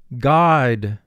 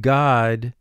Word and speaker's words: guide: advance the video god now gu is a team here because the gu is followed by i remember gu is a team when it's followed by e i or y and thus the u